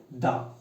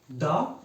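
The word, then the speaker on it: the: particularly বোঝালে সেখানে হয় দা এ এবং এন এর পরে আমরা আসবো দায় দা দা কিংবা দি অর্থাৎ দা টাকে দুই ভাবে উচ্চারণ করা হয় দা কিংবা দি ওকে টি এইচ এ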